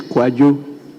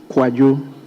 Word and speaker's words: Kwadwo: His Kojo is spelled KWADWO, not KOJO. Thank you, Right Honourable Speaker. So his is Kwajo. Kwajo.